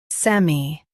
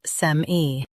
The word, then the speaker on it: semi: Sem, E, semi. US says sem-I. UK says sem-E.